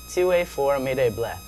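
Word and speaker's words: tu es formidable: It's pronounced TUE FORMIDABLE.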